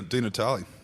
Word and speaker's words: Di Natale: Well, Senator Di Natale, thank you for joining us today.